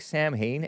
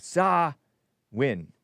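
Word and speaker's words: Samhain: Sam s it looks like Sam Hayne s a m h a i n but it's pronounced s ah all cap. Sawin Sawin Sam Hayen Sawin was a pagan festival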